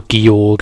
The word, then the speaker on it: Gyorg: body of evil goog or gorg as some people also pronounce it but I pronounce it guog I always have done and we on